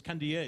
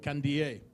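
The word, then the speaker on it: Kandie: Kibiwot Kandi, or Kandiye. It's Kandiye, isn't it, Kibiwot? So it looks like Kandi on paper, but if any of you need to pronounce it, it's Kibiwot Kandiye.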